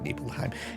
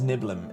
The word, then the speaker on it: Nibelheim: I don't call it Nibelheim. It is... I mean, I remember back in the day, in the 90s, it was Niblem. It was how me and my friends pronounced it. It's how I'm going to keep on pronouncing it.